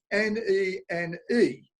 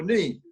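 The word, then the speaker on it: Nene: right, because it's spelt N-E-N-E. Okay, so you can pronounce it nen or neen.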